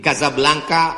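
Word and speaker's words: Casablanca: kuliah nama negaranya Maroko ibukotanya tulisannya Caca blancha cara bacanya Kadzab langka Kaza artinya rumah Blanca artinya putih Kasablanka rumah warna putih bahasa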